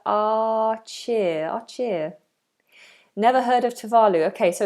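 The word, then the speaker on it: Tuvalu: to work up so this is talu talu is how we pronounce it here in in the UK talu is close to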